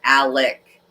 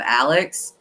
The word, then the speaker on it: Alec: Alec, instead of Alex.